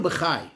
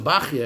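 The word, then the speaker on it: Bachya: Rabbeinu Bachai, or some pronounce Rabbeinu Bachia, explains that what was the purpose of these cups.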